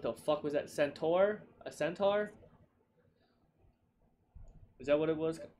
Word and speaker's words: centaur: A centaur?